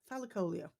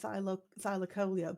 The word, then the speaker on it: thylacoleo: I've always called it thylacoleo, but whenever I've seen a TV program or documentary about it, it's always been pronounced by the experts as thylacoleo. Thylacoleo. Well, the Leo's been stressed.